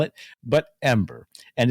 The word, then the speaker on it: EM-8ER: for why the plant's name e-m-a-d-r but it's pronounced ember not m ater as so many have tried to convince me to call it but ember and it's actually in the japanese and the